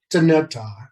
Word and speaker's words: Dinétah: So starting off with Dinétah, and that's the pronunciation.